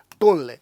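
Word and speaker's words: Tonle: झील है टोने सांप अगर इंग्लिश में देखेंगे टोनले इसको क्या बोलते हैं? टोनले ये इसका प्रोनाउंसिएशन है।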